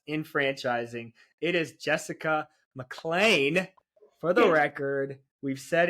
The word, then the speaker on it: McLean: it's a really common popular last name it's pronounced mlan so think of it like m c n